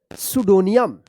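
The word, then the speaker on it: pseudonym: सुडोनियम, सुडो। यहां पे देखिए, यहां पे जो है ना ई भी है, लेकिन ई यहां पे भी उच्चारण नहीं हो रहा, सुडो, यू का उच्चारण हो रहा है सुडो।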